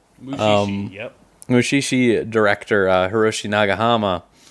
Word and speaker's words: Mushishi: Mushishi, yep.